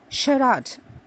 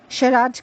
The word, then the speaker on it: charade: behavior towards women then there is a word sharat c-h-a-r-a-d-e Sharad can mean pantomime or farce or even a